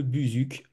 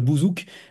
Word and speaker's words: buzuk: C'est un plaisir de vous recevoir, Marie Kelbert, pour cet ouvrage, Le Buzuc. Je pense que je le prononce bien. Je pense qu'on ne dit pas le bouzouk, mais sait-on jamais.